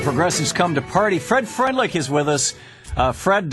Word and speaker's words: Freundlich: Fred Freundlich is with us. Fred, your last name in German would be Freundlich. Right. How do you say it? Pretty close to that. Oh, great. Exactly that.